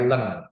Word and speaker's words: ln: pakai tombol ini nah ini ada LN gitu kan bacanya Len begitu nah ini mungkin belum